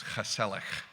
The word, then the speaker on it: gezellig: Yeah, and it has a G at the beginning and the end. So it's spelled gezellig, but it's gezellig.